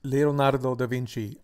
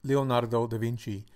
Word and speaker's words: Leonardo da Vinci: Pronunciation of this quintessential Renaissance man is Leonardo da Vinci, Leonardo da Vinci, Leonardo da Vinci.